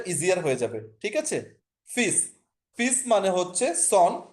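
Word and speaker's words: fils: বলে হচ্ছে সন, সেটাকে হচ্ছে ফ্রেঞ্চে বলে হচ্ছে ফিস। এল এর উচ্চারণটা এক্ষেত্রে হয়নি, এটা যদি বলেন আমাকে রুলস এর মধ্যে পড়ছে না, এটা রুলস এর মধ্যে পড়ে নাই।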